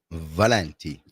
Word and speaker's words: Valenti: Well, you say Valenti.